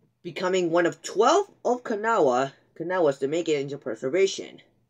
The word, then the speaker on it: Kanawha: This powerful 284 Berkshire, or Kanawha as it's actually pronounced, was built by the American Locomotive Company in Schenectady, New York, for the CNO.